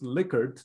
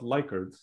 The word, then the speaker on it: Likert: i was uh preparing these slides that it's pronounced lickered not likert no no that can't be right really i've